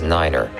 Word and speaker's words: niner: at a time and pronounce the number nine as niner for example to refer